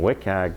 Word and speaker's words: WCAG: through the website so if that's not meeting wiag that's how you say it doesn't meet accessibility